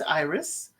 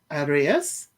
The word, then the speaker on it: Iris: Rio and Iris um they say it as Iris it is spelled um I would have said Aras but they say Iris um they are friends